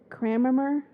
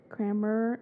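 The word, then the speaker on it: Kammerer: pronouncing names hammer is c k a m m e r e r kramer there's no r uh before the a oh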